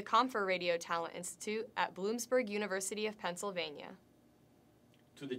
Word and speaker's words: Bloomsburg: To the Confer Radio Talent Institute at Bloomsburg University.